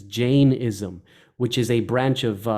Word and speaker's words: Jainism: So, for example, I believe the proper way of pronouncing it is Jainism, which is a branch of Hindu thought.